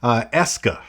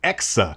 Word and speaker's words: EKSA: know hundred Pro video the whole time I was calling the company ESCA and I was pronouncing it Ross which I was transposing the K in the ass it is exa that's what it is